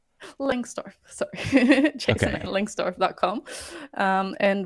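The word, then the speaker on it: Lengstorf: Langstorf. Langstorf, sorry.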